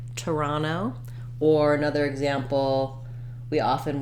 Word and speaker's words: Toronto: have what's called an aspirated or true T Toronto I want to have that puff of air